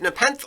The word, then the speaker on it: Nepenthe: Is it Nepenthe or Nepenthe? I think you pronounce the E on the end.